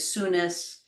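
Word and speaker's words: Sounis: I say Aurelius and Teleus, and the queen is Irene, and I pronounce it Edis, and the country is Sunis. But as I said, other people pronounce that word very differently, and I feel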